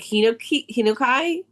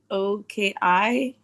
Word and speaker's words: Hinoki: it kind of smells like, okay, I'm gonna pronounce it wrong, but like my Lavo soap is this smell like hinokai, like that wood smell. Okay. Hinoki.